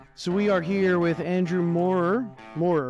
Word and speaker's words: Andrew Moorer: So we are here with Andrew Moore, right? Am I pronouncing that right?